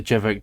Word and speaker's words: Jvckk: There's a couple people that say it differently, but Jvckk is what I would say is correct, yeah.